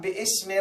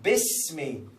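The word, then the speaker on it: بِسْمِ: So no, iqra bismi. Yes, I see alif, but this is cancelled alif. This was written in the calligraphy in Arabic language, but not pronounced. Because of this, there is a sign which tells you not to pronounce this alif.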